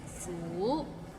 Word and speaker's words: 苦: Maybe it's the second tone that's hard to pronounce. Like 苦.